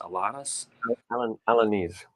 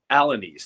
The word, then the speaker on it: Alanis: Alanis, Alanese. Alanis. Thank you. I knew that. I knew I was pronouncing it wrong.